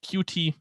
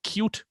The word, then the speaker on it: Qt: alternatives there's things like qt or i'm sorry i recently found out that it's actually pronounced cute um which i think